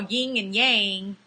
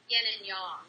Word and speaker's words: yin and yang: to us is what a bunch of us call ying and yang the correct pronunciation is Yin and Yong yes and um the